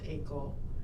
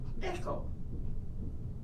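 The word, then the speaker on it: Eiko: And this this Japanese girl, her name is Ako, but it's spelled EI. Oh my. C O. So, we're calling it Echo.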